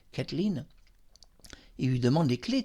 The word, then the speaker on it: Kathleen: demande à Kathleen, donc je vais bien prononcer son nom anglais, Kathleen, il lui demande les